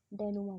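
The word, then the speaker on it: dénouement: उसे क्या बोलते हैं, डेनोमा बोलते हैं। स्पेलिंग अलग है, प्रोनाउंसिएशन अलग है। स्पेलिंग के हिसाब से इसकी प्रोनाउंसिएशन डेनोमेंट होनी चाहिए, लेकिन इसकी स्पेलिंग है, इसका प्रोनाउंसिएशन है डेनोमा, डेनोमेंट, ठीक है।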